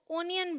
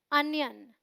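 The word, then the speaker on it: onion: बात करेंगे प्याज की प्याज को ज्यादातर लोग ओनियन बोलते हैं जो बिल्कुल गलत प्रोनंसिएशन है आपको क्या बोलना है अनियन अनियन आप साथ में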